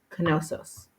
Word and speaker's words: Knossos: This is where they found the ancient capital city, and it is pronounced with the K as well as the N, Knossos.